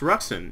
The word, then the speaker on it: Ruxin: bored account or something this is lii yunu which is pronounced ruen if you didn't know so that's ruen right here uh and